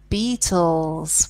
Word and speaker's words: beetles: of beetles Wow okay the spelling though because you've got the TT that's correct but it's not spelled like the band The Beatles it's spelt with double e so be e e TT le s so yes we